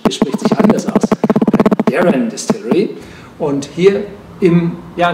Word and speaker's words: Penderyn: Geister und heute befinde ich mich in der penderen Distillerie nein falsch es spricht sich anders aus daren Distillery und hier im ja nicht ganz in